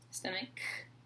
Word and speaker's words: stomach: talked about the stomach weird word stomach and with the CH but sounds like a K our stomach helps to